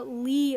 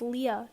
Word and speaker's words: Leah: got georgia's name wrong the police called her georgia lee moses and her real middle name is leah not lee the name georgia lee